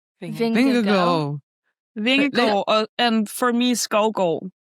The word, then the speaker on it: Skovgård: And for me, Skovgård. Skovgård.